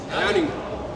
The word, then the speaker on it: Herning: How do you say the city? Herning. Herning. Herning. Herning. Not Herning. Not Herning. Herning. Herning. H e r n Herning. Okay.